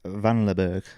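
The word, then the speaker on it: Vanlerberghe: Oh, Trash Boat have released Be Someone featuring Eric Van Leberg. Is that how you pronounce his name?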